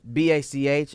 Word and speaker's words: Bach: Uh, well, so so batch B A C H is pronounced Bach.